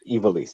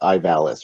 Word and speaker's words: Ivalice: And that's how you actually pronounce it. It's Ivalice, not Ivalice or whatever. It's Ivalice.